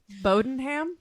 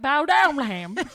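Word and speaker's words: Bowdoinham: place bow doing ham bodenham well but this is how it's spelled before everyone judges me b-o-w-d-o-i-n-h-a-m bodenham is that's it bodenham but it looks like bow Downham there's also um an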